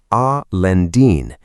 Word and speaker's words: Alhendín: Gójar, a town beside Alhendín, pronounced Al Lendín, just south of Granada city.